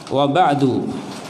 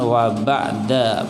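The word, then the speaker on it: وَبَعْدُ: Ya, kenapa dibacanya wa ba'du pakai dhammah bukan wa ba'da pakai fathah, apalagi wa ba'di pakai kasrah tapi pakai apa? Dhammah.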